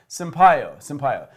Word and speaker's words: Sampaio: Sampaio.